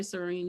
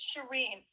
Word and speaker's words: Shireen: much for sharing my serene you're absolutely right i hope i'm pronouncing your name right yeah it's it's shireen um to touch on